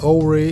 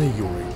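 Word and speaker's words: Ouray: Интересно, что многие носители английского языка встают в тупик, пытаясь правильно произнести название этого города. Тут и Оуре, и Анурей, и другие производные. Но если верить старожилам этих мест, то правильное произношение – это именно Юрей.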